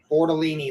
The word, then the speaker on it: Bortolini: Bortolini, like tortellini. Yeah. If you want to ever know how to say his name, it's like the pasta, tortellini. It's just Bortolini.